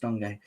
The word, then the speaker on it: Dango: dango's leading our front Dongo sorry spelled Dango pronounced Dongo um Dongo leading the